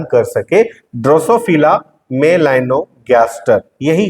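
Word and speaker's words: Drosophila melanogaster: भी लिख दिया ताकि आप इसका सही सही उच्चारण कर सके ड्रोसोफिला मेलानोगैस्टर यही है ड्रोसोफिला मेलानोगैस्टर फल मक्खी और इसी पर लिंकेज के संबंध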